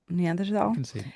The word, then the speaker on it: Neanderthal: Neanderthal.